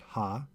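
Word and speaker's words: הַ: wrote the article but there's no variation in how the article is pronounced it's always pronounced ha this is just to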